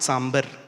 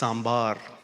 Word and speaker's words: sambar: everybody's writing on that saying it is not sber it is sambar if they don't pronounce